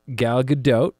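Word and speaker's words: Gal Gadot: destiny directed by Patty Jenkins and uh Stars gal GDOT which is actually how you say her name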